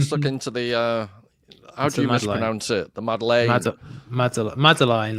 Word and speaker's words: Madeleine: The most famous scene in the book that we've been mispronouncing it for five episodes. Oh man. So say again. Madeleine. Madeleine.